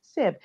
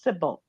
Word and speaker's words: Sybil: I just don't like to be called Sib. It's not that difficult. It's two syllables, Sybil.